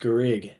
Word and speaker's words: Garrigue: Can you just say your last name so that people can just get it right? It's just Garrigue. Garrigue. Garrigue. Garrigue. There you It's go. just Garrigue.